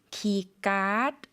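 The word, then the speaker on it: คีย์การ์ด: 우리는 키 카드 이렇게 발음하지만 태극으로는 기갓 그래서 카드를 갓 쌍기업 발음으로 발음하고요. 마찬가지로 성조가 생겼다. 올리듯이 발음해 주시면 되겠습니다.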